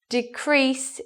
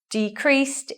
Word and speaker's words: decrease: So in this sentence, decrease is in the noun form. So looking at our rule, where is the stress here? On the first syllable. We show the stress by the circle and the unstressed by the line. And what about this one? Decreased is in the verb position, so we swap. We stress the second syllable.